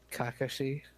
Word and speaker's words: Kakashi: Kakashi. Yeah, that's how they say it. That's how they say it in the show.